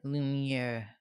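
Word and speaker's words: Lumière: Lumiere.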